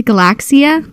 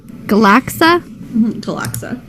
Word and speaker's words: Galaxa: I keep wanting to add the I to Galaxia. Galaxa.